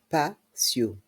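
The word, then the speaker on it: patio: pergola la tonnelle prononçons le PAO le PAO dans le mot PAO le T se trouve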